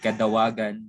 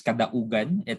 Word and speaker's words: Kadaugan: I've heard Kadawagan, so it's Kadaugan.